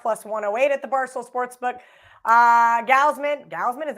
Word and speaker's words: Gausman: Gausman, is that how you say it? Gausman, yeah.